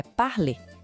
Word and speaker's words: parler: A pronúncia do infinitivo é parlê, com aquele R final bem suave, bem francês.